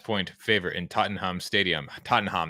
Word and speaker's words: Tottenham: favorite in Tottenham Stadium Tottenham that's how you say it Tottenham how you say it in London lond London uh